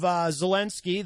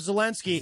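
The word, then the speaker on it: Zelenskyy: Oh, there's 2 Y's. I've been spelling his name wrong. 2 Y's. Like I said earlier, who makes up these languages? That's crazy to me. 2 Y's. So it's like Zelensky.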